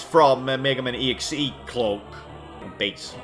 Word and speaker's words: Bass: Base. I think is it base or boss? I actually never knew. I think it's boss because it's spelled the same way as the fish.